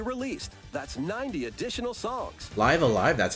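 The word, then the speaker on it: Live A Live: Live Alive, that's how you pronounce that.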